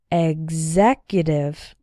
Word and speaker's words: executive: You can see that in these words, the X is pronounced like gz. Exactly. Executive.